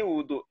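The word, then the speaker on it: وُضوء: Ya, yang toharoh dari hadas, wudu. Dan wudu, kalau wawnya dhammah, wudu, maknanya menggunakan air, istimalul ma, di anggota-anggota tubuh tertentu, fi a'dha'a makhsusatin, biniyatin, disertai dengan niat. Ini wudu, kalau dhammah.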